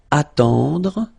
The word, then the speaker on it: attendre: Then attendre, attendre. Remember, final you don't insist on it, it just gives you the possibility to pronounce the dr.